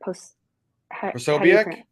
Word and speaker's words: Posobiec: Like Jack, and I always say his name wrong, Becky or Posobiec?